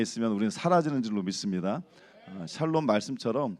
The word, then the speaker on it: 샬롬: 지금 좀 많이 좋아하셨네요 발음 새시는 분들은 살롬 그러신다 그랬죠데 제가 늘 말씀 죽을 놈보다 낫습니다 하나님 안에 있으면 우리는 사라지는 줄로 믿습니다 샬롬 말씀처럼 또 오늘 화목케